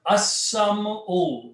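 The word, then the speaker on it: السمع: Now, so in this case, the word will become seen, will kill the sound of lam, so it will become as-sam-u.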